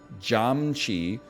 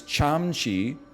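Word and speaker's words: 참치: they were like oh it's because you said like jam Chi tuna is Cham Chi and jamji which sounds almost identical is like a slang word for so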